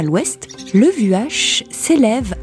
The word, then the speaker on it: Vuache: Vuache, qui se prononce Ouache en patois, vous connaissez?